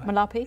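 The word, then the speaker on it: Malapa: So you take him to a site that isn't Malepi, I think I've pronounced that right. Malapi. Yep.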